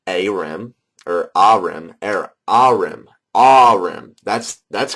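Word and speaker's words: Ahrim: not dck so anyways um Aram which is pronounced a or a arim arim that's that's correct ahm anyways veric which is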